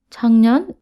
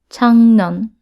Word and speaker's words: 작년: 작년 means last year and it's pronounced as 작년, not 작년, okay?